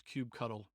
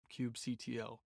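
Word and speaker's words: kubectl: in the future is cube cuddle cube cto it's spelt like this cube ctl and it's rather cumbersome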